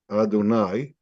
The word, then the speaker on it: Adonai: blessings and when articulated the name which we don't even pronounce you should have in mind the meaning of the name as it is pronounced Adonai which means he's Lord